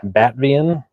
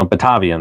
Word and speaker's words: Batavian: Next up is gonna be another endive, Batvian. I have no idea, or no, Batavian, that's it. It's gotta be Batavian. There's no way that it's pronounced any other way.